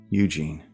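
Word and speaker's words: Eugène: It means strong in French. And that would be pronounced Eugen.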